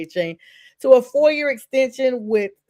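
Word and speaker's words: Achane: I know he said it's Etienne. His brother is now with the Saints. The Dolphins are actually signing running back Davon A-Chain, I'm just gonna say A-Chain, to a 4-year extension with $68 million.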